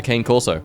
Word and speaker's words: cane corso: It's about the size of a cane corso. Sorry, correct pronunciation.